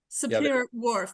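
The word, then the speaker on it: Sapir-Whorf: right again I said wrong yeah Superior Wharf Superior Wharf that's right uh hypothesis could you tell us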